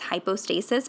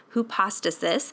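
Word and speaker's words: ὑπόστασις: is who pasta cysts I want to say high hypostasis because that's I have a medical background and so that's how I would read that is hypostasis but the current correct pronunciation is who pasta sis and so the this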